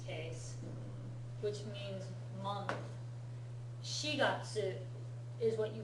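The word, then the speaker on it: 四月: Sheatsu is what you call April in Japanese. It's never called yongatsu when you're talking about the month of April.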